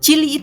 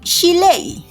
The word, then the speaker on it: chile: bilangnya Chili pekin ya Chili itu harusnya diucapkan dari bahasa nahwal ya suku nahwal tu biasanya bukan Chili ya bukan Inggris gitu bahasa Inggris kan Chili gitu tapi chilei chilei mereka harusnya nyebut Chile Nah karena itu merupakan